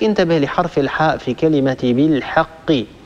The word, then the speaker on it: بالحق: الحاء في كلمة بالحق لا نقول بالحق بالحاء حاء هذه حاء مستعلية مفخمة الحاء لا تفخمها العرب أبدا الحاء دائما هي حرف مستفل يتسفل الصوت عند النطق به وبالتالي ينتج عن هذا هو ترقيق الحرف بالحاء بالحق هذه ملاحظاتي على